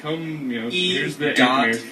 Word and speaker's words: The Anthemeers: Anthem as in national anthem. Correct. Ears as in Musketeers.